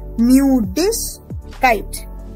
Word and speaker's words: Müdigkeit: Die Müdigkeit. Die Müdigkeit. Remember, IG will be ish. So, Müdigkeit.